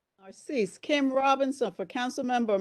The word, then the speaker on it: Narcisse: Representative or member Mercedes Necessaire. Narcisse, Kim Robinson for Council Member Mercedes Narcisse.